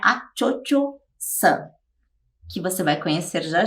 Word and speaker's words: Cho-Cho-san: Bem, Madame Butterfly é essa moça que se chama Cho-Cho-san, é assim que se pronuncia, Cho-Cho-san, que quer dizer Madame Butterfly ou Senhora das Borboletas.